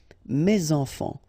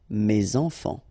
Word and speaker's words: mes enfants: Enfant, children is starting with a vowel, so you should make the liaison mes enfants, mes enfants.